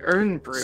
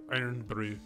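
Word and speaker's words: Irn-Bru: i've heard of it i thought it was pronounced like earn fruit so it's spelled like urn brew but i think it's yeah i mean the scottish accent they call it iron iron brew okay cool i would try it definitely that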